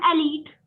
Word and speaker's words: elite: LIT तो नहीं बोलना, मैम elite. क्या कर रहा है ये, LIT तो नहीं बोलना। तेजल, मैम मैंने correct pronunciation of this word. Ma'am एलीट।